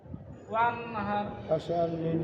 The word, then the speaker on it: وانحر: ওয়ানহার ওয়ানহার ওয়ানহার ওয়ানহার এখান থেকে বাতাস বেরালে বুঝবেন যে উচ্চারণ হচ্ছে ওয়ানহার আর হার চিপে ধরে রুটি।